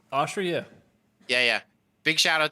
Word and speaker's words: Oshry: How do you say Dave's say it Oshry? Oshry, yeah.